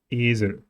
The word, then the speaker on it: Esel: Esel is a good example for a clear E sound and schwa. Esel.